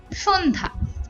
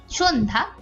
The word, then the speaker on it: সন্ধ্যা: এর মত হয় এরপরে পদের মধ্যে বা অন্তে জ ফখলা যুক্ত হলে তার কোন উচ্চারণ থাকে না যেমন সন্ধ্যা এখানে নরমাল এখানে এখানে কিন্তু জ খলার কোন উচ্চারণ হচ্ছে না সন্ধ্যা স্বাস্থ্য এরকম কিন্তু এটা